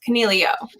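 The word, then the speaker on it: Coniglio: because like okay so nino's last name is conneglio which is should be pronounced cornelio you know like a rabbit in italian but i mean we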